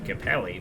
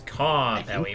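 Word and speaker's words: Karppeli: I've always been pronouncing Capelli, but I guess Carpelli makes more sense. Disclaimer, my Finnish isn't good, but it's good enough to know that's Finnish and it's pronounced that way.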